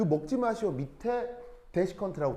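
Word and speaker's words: desiccant: 그럼 여기서 이제 첫 번째 이런 말이 하나가 나오는데, 자, 데시컨트라고 읽고요.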